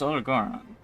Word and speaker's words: Odogaron: Since I have the armor plate from Odogoron, or Odogaron? No, it's Odogoron. Because that's how they pronounce it in Wilds when they see the Guardian one.